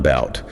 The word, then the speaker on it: about: And about stress is on about.